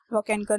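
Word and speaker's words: Wakankar: Correct में, my pronunciation is wrong, वॉकेनकर।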